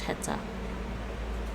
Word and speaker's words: heta: Oh, they actually pronounce the H, heta.